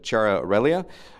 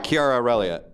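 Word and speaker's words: Chiara Aurelia: is so one of your cast members uh Chara relia was saying K Kiara say I've not spoken to her so I got the pronunciation wrong Kiara I am sorry uh Kiara relia so she did an interview recently where she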